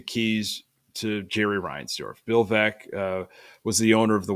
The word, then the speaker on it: Veeck: Bill Veeck was the owner of the White Sox for a couple of years. There's a book, that helps with the pronunciation. Veeck is in rec.